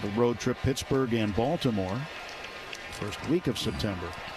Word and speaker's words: Baltimore: We'll have a road trip Pittsburgh and Baltimore. First week of September. And Balmer. Baltimore. The locals don't have a T in it.